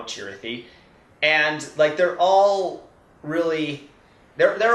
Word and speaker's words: Chirithi: there was this great scene where they all were being shown what a Chirithi was, and that's the official pronunciation now, Chirithi.